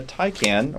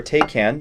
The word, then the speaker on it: Taycan: We'll give away a Porsche Taycan, or Taycan, depending on how you want to pronounce that.